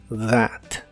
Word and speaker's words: that: como complemento significa eso la th de esta palabra se pronuncia como la d vibrante that that y ahora sí es